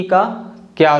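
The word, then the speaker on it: cake: या साइलेंट होता है जैसे कि केक तो इसको हम हम के के नहीं बोलेंगे जो लेटर ई है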